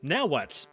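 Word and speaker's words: Nahuatl: The Mishika had their own language called now what? See that little TL at the end there? It sounds like a just a little right in the kind of like in this word.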